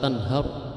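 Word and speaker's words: تَنْهَرْ: Tanhar roknya dibaca tebal, itu rok tarqiq, rok tafkhim. Wa ammas-sa'ila fala tanhar, jadi dibaca tebal, bukan tanhar tapi tanhar.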